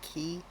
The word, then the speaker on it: quay: down here this one the key quay however you pronounce that I always uh understood it to pronounced be pronounced key.